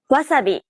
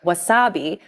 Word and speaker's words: wasabi: stress-timed language like English so instead of stressing the second syllable like Wasabi make it even throughout try again wasabi wasabi